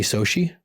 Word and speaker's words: SOCI: How do you spell it? Soshi, SOCI.